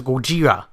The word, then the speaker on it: Gojira: They actually do refer to it as Gojira, the pronunciation of Godzilla.